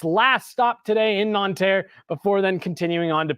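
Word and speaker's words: Nantes: getting back to Paris non te is where it is today I'm sure that was the most American possible pronunciation uh of that City non uh is where the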